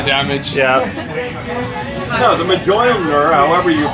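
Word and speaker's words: Mjölnir: No, the Mjolnir, however you pronounce that. Yeah. Can you pronounce it? What? Can you pronounce his hammer? What's it called? What is it actually called? Oh God. Say again? Oh, Mjolnir?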